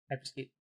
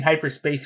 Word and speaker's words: Hyperscape: I always say it wrong. I'm going to say Hyperscape this time. Yep, Hyperscape. Actually got it right this time, guys. You're playing Yeah, you kept Hyperscape. saying hyperspace for a while, I think.